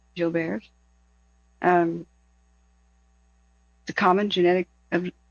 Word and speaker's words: Gilbert: bear which is pronounced Gilbert well I mean spelled Gilberts it's actually pronounced Jill Bears um the common genetic